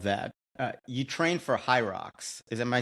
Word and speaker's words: HYROX: Uh you train for Hyrox.